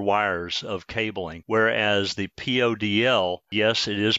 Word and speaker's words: PoDL: pairs or four wires of cabling whereas the podl yes it is pronounced poodle only requires a single pair which is two